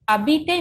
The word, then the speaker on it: habiter: Habiter means to live. H is silent.